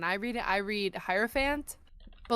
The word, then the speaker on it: hierophant: pronounced is arant but I don't pronounce the h yeah like araon yeah